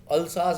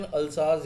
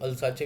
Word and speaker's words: Alsace: अल्साज, बेटा इसकी प्रोनाउंसिएशन अल्साज है, याद रखना, ठीक है. कुछ लोग ओल्सेस पढ़ी पढ़ते हैं, कुछ अल्साचे भी पढ़ते हैं. ओल्साज है इसकी, अल्साज एंड लोरेन.